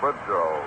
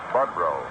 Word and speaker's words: Boudreau: Lou Boudreau, for example, they would say. But actually, he pronounced it Budrow.